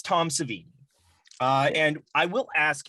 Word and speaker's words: Savini: tom savini but someday that's how you say his last name oh yeah like the steak i've only ever seen